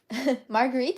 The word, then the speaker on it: Marguerite: Marguerite. Is that how you pronounce it, Mom? Yep, that's right. In Japanese, we say Margaretto, so it's pretty different.